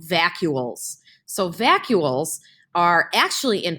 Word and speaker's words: vacuoles: It sounds like the word vacuum. It's called vacuoles.